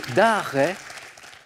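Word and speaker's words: Arz: c'est la bonne réponse d'Ar c'est l'île alors ça c'estécrit a Z Christine donc je valide votre réponse mais ça se prononce sans le Z c'est bravo Christine bien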